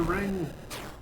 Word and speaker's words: RNG: Praise be to Ring. Beat a ring? I said praise be to Ring. What ring? No. Well, Yeah. RNG, but pronounced as though it were a thing.